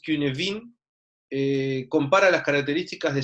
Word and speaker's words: Cynefin: Eh, Esto que está acá, el marco Cinefin, o como se pronuncia realmente, que es Cunefin, compara las características de 5 dominios, ¿sí?